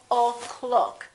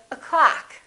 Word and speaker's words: o'clock: that in this case the first syllable is reduced the second syllable is stressed so this one disappears and becomes this uh sound up so we say o'clock we don't say oh cloak we say o'clock how